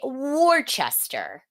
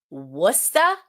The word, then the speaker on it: Worcester: Most people say Worcester. It is pronounced Worcester or Worcester.